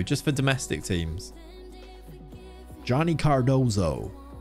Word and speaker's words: Cardoso: life i haven't john ginny i've written johnny cardozo is how he would be pronounced if he was is that him yeah